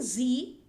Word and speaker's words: Sie: So, sprechen Sie English? Now again note here, this Z, S-I-E, but pronunciation is Z.